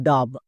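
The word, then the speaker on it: dove: যেমন দেখ ডি ওভি একে অনেকে উচ্চারণ করে ডব আবার কেউ কেউ করে ডাব।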